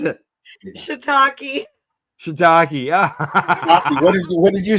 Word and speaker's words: shiitake: There's shit take wedge salad with cannabis blue cheese dressing. Say that again. What is that? Shit take. How do you pronounce it? Shiitake.